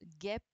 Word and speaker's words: guêpe: Alors là, il fallait faire attention au GU, absolument ici. D'accord? Donc là, il fallait bien mettre un U, parce que si on enlève le U, effectivement, ça fait GEP.